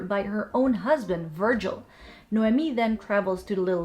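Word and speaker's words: Noemí: By the way, I did look up the pronunciation of the Spanish version of the name and I assumed it wouldn't be like the English Naomi, and I came up with Noemi.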